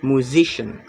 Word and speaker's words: musician: The stress is on the second syllable, musician.